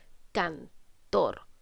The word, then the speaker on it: cantor: Tenemos cantor que tiene dos sílabas. ¿Dónde estoy cargando la voz? En tor. Muy bien, porque nosotros decimos cantor.